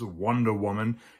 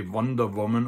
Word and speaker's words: Wonder Woman: The only exceptions are really loan words, like for instance, Wonder Woman. You shouldn't say Wonder Woman, although you'll hear some people in Germany pronounce it that way.